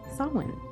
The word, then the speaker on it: Samhain: It was called Samhain. Also, something that always tricks me is although it's called Samhain, it's spelled this, Samhain.